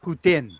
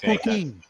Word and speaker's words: poutine: Well, okay, it's actually pronounced poutine. Okay. The E is silent. En Makes français, en French, right? Right. Poutine. It's not poutine.